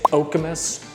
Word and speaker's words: Okemos: the area and all you keep seeing is okus okus okus which is how you pronounce that city name by the way and